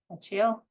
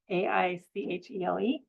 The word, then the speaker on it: Aichele: Send all over in Hood River and never say his name right. Achiel? That's not right. Aichele. Farms they have strawberries and berries, and we got all those nice fall strawberries a few years ago.